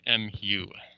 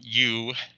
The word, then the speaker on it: mu: okay and this is the Greek letter mu muu right it's not U it's not you know Z it's mu is a very specific name all right don't run